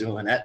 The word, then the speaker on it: Zulynette: what you're saying there's zoolonette so i appreciate that yeah a point of uh of uh of being hooked on phonics because z is pronounced like an s so yeah okay oh